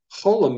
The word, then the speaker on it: cholam: Cholam makes the O sound as in the word fold.